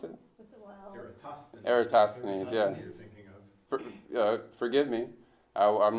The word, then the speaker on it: Eratosthenes: declination of the Aristotle Aristophanes how do you pronounce it Eratosthenes forgive me I'm not Greek I don't speak